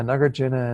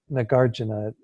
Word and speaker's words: Nagarjuna: me say that that in sanskrit it's for the emphasis is on the second syllable and then but when he say Nagarjuna like I said it almost starts sound they get from New York or something that God my